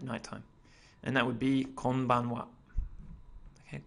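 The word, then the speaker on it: こんばんは: And that would be konbanwa. Okay, konbanwa. Again, it's using the particle wa. Okay, so it's written as ha, but it's pronounced as wa.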